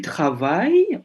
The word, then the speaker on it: travailles: Tapi pengucapannya tetap travail. Je travaille. Tu travailles.